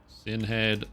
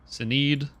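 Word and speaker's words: Sinéad: Sinhead O'Connor. What is this? Oh, yeah. That's not how you pronounce her name. Sinead.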